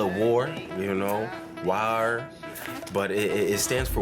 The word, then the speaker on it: WAAR: You can call it WAAR, you can call it WAR, WAAR, but it stands for wavering as a reed, and typically it would be pronounced war.